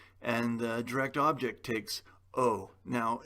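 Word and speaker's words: を: the direct object takes o now it says guitar wo but that's pronounced o and then because it's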